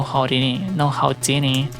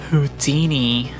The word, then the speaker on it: Houdini: We may be performers, but you're frankly no Houdini. Freddy. First of all, it's pronounced Houdini. Foxy, no, it's Houdini. But Laura, it's... Why are you both saying it with an R?